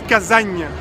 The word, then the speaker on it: Kazan: Kazan qui se prononce Kazagne, voilà, d'après ce que les Russes nous ont indiqué.